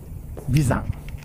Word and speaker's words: 眉山: これですここは眉山、眉山パークと書いてあるんです。